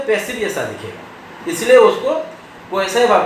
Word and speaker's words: quasi: हाँ, क्वासी भी कोई के साथ पढ़ते हैं, मान लीजिए एग्जैक्ट प्रोनाउंसिएशन हो है क्वासाई, QUASI, क्वासाई exact pronunciation क्वासाई। क्या मतलब हुआ?